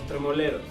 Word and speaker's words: Tremoleros: How's it really pronounced? That's perfect. Los Tremoleros.